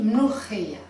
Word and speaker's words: mloukhia: Ça s'écrit mloukia, mais ça se dit mlochia. Un petit peu comme si on crachait, mlochia.